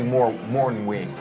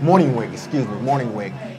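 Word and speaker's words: Mornhinweg: And Marty Morningwig, is that how you pronounce his name? Morningwig.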